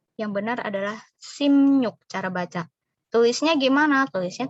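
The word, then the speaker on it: 십육: benya dibaca m hiunya dibaca nyu Jadi bukan Cibiuk yang benar adalah Sim yuk cara baca tulisnya gimana tulisnya tetap seperti ini 16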